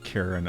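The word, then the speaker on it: Charon: Um, I should have wrote something up before stream so I'd have this all ready to go for the Greek pronunciation of Karen as a hard K sound.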